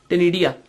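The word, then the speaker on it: ctenidia: Excretion occurs by टेनिडिया। टेनिडिया के spelling C से start होंगे, बट सी is silent hair.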